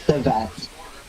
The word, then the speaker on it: Teyvat: Tevat, yun yung spelling, Tevat, Teyvat, but it's pronounced as Tevat.